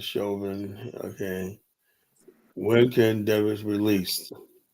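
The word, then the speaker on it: Chauvin: You know, pronouncing as Shovin.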